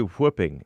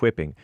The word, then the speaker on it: whupping: Is it whipping or whooping? It's definitely whooping, not whipping.